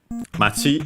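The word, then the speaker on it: 町: Uh then we have uh Mati again which we have seen town uh its accent uh should be on uh the uh last syllable and it is so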